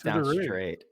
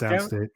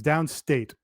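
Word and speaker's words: Downstait: No, it's Downstate. I thought it was Downstraight. Have we had this argument before? It's spelled like S-T-R-A-I-T. It's A-I-T. It's Downstate, but not S-T-A-T-E, S-T-A-I-T for whatever fucking reason.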